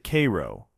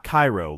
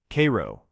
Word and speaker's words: Cairo: Locals pronounce it Cairo, not Cairo like Egypt.